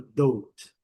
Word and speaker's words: dote: Mas, na verdade, o O ele tem um som longo na palavra dote. O E não é pronunciado.